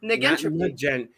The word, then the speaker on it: negentropy: Negentropy. Negentropy is how it's pronounced.